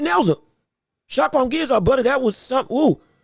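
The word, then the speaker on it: Shakhram Giyasov: Shakram Giyazov. That's what it is. Shakram Giyazov. My apologies for getting the name wrong. I'm going to get it right now, though. Shakram Giyazov, brother, that was something.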